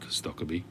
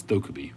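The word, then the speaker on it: Stokkebye: After watching Professor Jeremiah's and Three Rivers Piper interview with Eric Stokkeby, well, actually it's Stokkeby. The Americans seem to say Stokkeby, but it's Stokkeby because he himself pronounces it Stokkeby.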